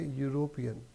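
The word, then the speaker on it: European: this is द यूरोपियन अब यूरोपियन को अगर हम बोले तो यह जो है य का साउंड दे रहा है क्योंकि इसमें ई साइलेंट है और यू की ध्वनि आ रही है तो इस सेंटेंस को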